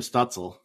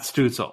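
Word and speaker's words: Stützle: that's exactly it so what do you think is it I was Tim stutzel Matt stusel I thought it was stencil too it might be schnitzel I'm sure some really exotic pronunciations so is it we'll just say like potato potato so it's Tim stutzel stetzel whatever you prefer Timmy yes Kim yes Kimmy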